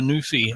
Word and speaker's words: Newfie: Here, in Canada, it seems to be the Newfie, or the Newfie, as it's pronounced, from Newfoundland.